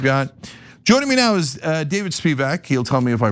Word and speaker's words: Spevak: Joining me now is David Spevak. He'll tell me if I pronounce that right in a second.